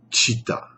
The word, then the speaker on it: citta: Eh bien, cette notion s'appelle Chitta. Ça s'écrit C-I-2-T-A.